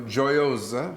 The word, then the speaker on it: Jiosa: and uh you know joyosa is really how you pronounce my last name all wrong g-i-o-i-o-s-a and